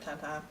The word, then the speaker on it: Tintin: crazy about it, but Tintin, who's also pronounced Tintin, but my mother's bilingual, she also speaks French, and so she always pronounced it Tintin, was one of my childhood favorites.